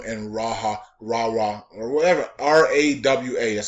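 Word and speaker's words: Rawa: of Musul Kwam and Raha Rahra or whatever R awa that's how you say it are all cities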